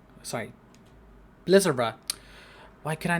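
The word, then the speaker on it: Blizzara: for Brotherhood here has Titus see more does blaza sorry Blizzer why can I not pronounce i looked at the word knew what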